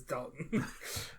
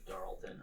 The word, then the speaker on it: Darlton: It's Dalton. But okay. But in the sub is Darlton. It's got an R in it.